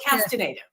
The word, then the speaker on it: Castaneda: the way so okay we lost the squiggle so it's castinative yeah okay I I